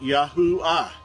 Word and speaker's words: Yahuwah: So his name would be pronounced Yahuwah. Yahuwah is how we would pronounce the Creator's name.